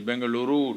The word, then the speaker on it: Bengaluru: know where is Bangalore it is Bengaluru now okay you have to pronounce it rightly and I'm there and uh these are conferences for under 25.